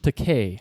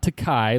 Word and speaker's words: Takei: former fellow cast member, "My name is George Takei, not Takai, like you've insisted on pronouncing it for the last 40 years." Kevin. William Shatner. That's correct. Mm. Remember Takei, like in to pay.